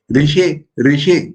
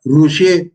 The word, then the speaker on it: Rishi: Rishi, that verb. Rishi is not Rushi nor Rishi.